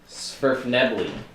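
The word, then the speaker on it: svirfneblin: Svirfnebly. Surfnedley. Svirfnebly. The N is silent.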